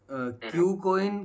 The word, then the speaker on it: KuCoin: आप क्यू कोइन की spelling KUCOIN है ना, क्यू हाँ नहीं है।